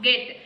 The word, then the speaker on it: get: Get. Here also E comes after G, but we have to read this word as get only.